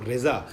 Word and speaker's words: رضا: ملا ہے امام کو، رضا صحیح تلفظ رضا ہے، ہم رضا کہتے ہیں